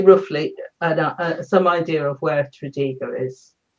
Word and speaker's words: Tredegar: So it gives you roughly some idea of where Tredegar is. So you don't really pronounce the R the way we would. You sort of leave the R off, right?